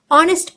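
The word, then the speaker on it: honest: किया गया है अंब्रेला ऑनेस्ट पर्सन यहां एच साइलेंट है ऑनेस्ट हो रहा है ओ का उच्चारण हो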